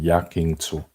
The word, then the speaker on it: yakiniku: Otherwise it's yakinsu. So that's the right pronunciation, yakinsu chicken.